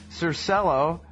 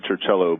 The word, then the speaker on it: Circello: hold right now on the telephone is sir cell oh and Michael Reisner I believe is how you